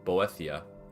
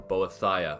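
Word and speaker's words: Boethiah: is sacrifice maruo to boia or boia or however you want to pronounce it I I like to call it boethia so yeah let's get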